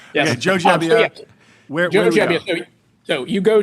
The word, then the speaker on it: Gebbia: By the way, it's I've just learned it's Gebbia, not Gebbia. So unless he's pulling a fast one on me, we all have to correct our pronunciation. Yes. Okay, Joe Gebbia.